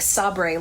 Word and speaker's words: sabre: It's spelled like sabre, like in The Office when they're taken over by Saber, and it's spelled and they call it sabre.